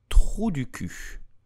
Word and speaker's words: trou du cul: English say asshole or butthole, but in French we like to say trou du cul. Trou du cul. Trou mean hole, cul mean butt or ass. So asshole, trou du cul.